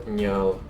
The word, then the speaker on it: Njal: Ragnar might be more of an issue to fight against than Njal, which by the way, this is how you pronounce his name, right?